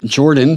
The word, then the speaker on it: Jorphdan: ago this is from Jordan the pH is silent so despite fulfilling Wizards